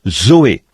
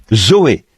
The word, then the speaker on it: zoé: Et en grec, pour dire la vie de Dieu ou la vie éternelle, on se sert du même mot que l'on prononce, Zoé, Z-O-E, Zoé, la vie.